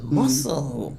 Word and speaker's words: Mossel: Muscle. Muscle.